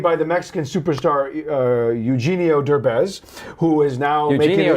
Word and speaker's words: Derbez: where the snob is a rich playboy, played by the Mexican superstar Eugenio Derbez, who is now making Eugenio it, Dirtbag?